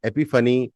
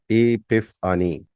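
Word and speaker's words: epiphany: एपफ आनी एपफ फनी ए पिफ अनी ए पी आई पी एच ए एन वाई एपी फनी भी बोलते हैं ो इसको बट इसका जो करेक्ट प्रोनंसिएशन है ए पिफ अनी ओके प्रैक्टिस का मैटर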